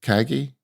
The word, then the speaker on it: Kagi: primary mover and shaker behind the app search Kaggi, and we're going to be getting into that today. Um, but I didn't even think to ask you, is that how you pronounce it? Kaggi.